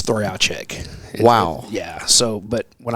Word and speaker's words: Trojacek: butcher it well so the correct pronunciation is throw out check wow yeah so but